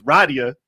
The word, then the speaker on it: Rydia: video I was like it's Radia it's not Rydia and it's Yang not